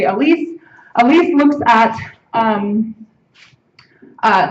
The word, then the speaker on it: ALICE: which I'll pronounce it Alise it's it looks like Alice but if you slur Alice it sounds like Atlas too much so I'll use the French French pronunciation and say Alise Alise looks at um